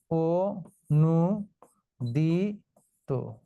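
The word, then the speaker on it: অনূদিত: অনুদিত, এখন তাহলে কি হবে উচ্চারণ? ও নু দি তো, অনুদিত। অর্থাৎ এই যে অ এর পরে দীর্ঘকার আছে, এই দীর্ঘকার থাকার কারণে অটা ও হয়ে গেল। অনুদিত নয়, হবে অনুদিত।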